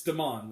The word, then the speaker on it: Damon: He pronounces it, they say Damon, like it's Damon, like French.